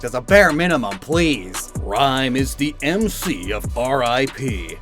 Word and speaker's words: Ryme: Ryme is the MC of R.I.P., a rap artist, and her Japanese name is Lyme, which does rhyme with time and rhyme, so that's good.